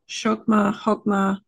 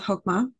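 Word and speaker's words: Chokmah: the second sephira or hokma hogma different pronunciations I'm gonna go with hokma c-h-o-k-m-a-h is one spelling and some kabbalistic scholars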